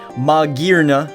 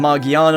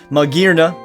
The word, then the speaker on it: Magearna: out some information on Maga I think that's how it's pronounced now uh instead of magana or maana it is Mna I'm assuming it's that because you know like gear like metal steel it's human made I